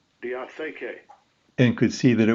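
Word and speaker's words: διαθήκη: From Strong's Concordance, we learned how to pronounce the original Greek word. Strong's G 1242, diatheke, diatheke.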